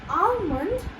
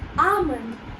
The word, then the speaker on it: almond: have over here is, you might say it almond, but over here the UH sound will come. So over here you don't have to use the word L, you just have to use almond. Once again, almond. The UH sound, ah.